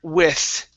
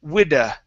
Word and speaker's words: with: All right, and your last word, okay, is the word with. Right here, you said widda. Okay, give me a th with an orchard.